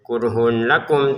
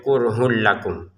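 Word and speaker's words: كره لكم: Kurhun lakum, tulisannya kurhun, tapi kita bacanya kurhul karena kita masukin di sini tanwinnya ke lam ya. Dimasukkan ke lam sehingga cara bacanya kurhul lakum. Jadi bukan kurhun lakum lagi.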